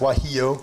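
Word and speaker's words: guajillo: okay so our red chili is gonna be wahi oh yeah it's this that's pronounced why you the G isn't surprised you didn't ask me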